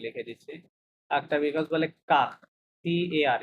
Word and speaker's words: car: একটা বিকজ বলে কাক, CAR, ইংলিশে কার না, ওই কাক উচ্চারণ হবে কি কাক, হ্যাঁ, এই কাক কাক।